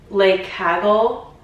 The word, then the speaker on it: Le Cagole: the super trendy valenciaga i think it's pronounced the lake haggle like kaggle i'm going to leave